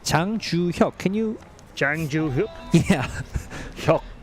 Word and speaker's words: 장주혁: It's 장주혁.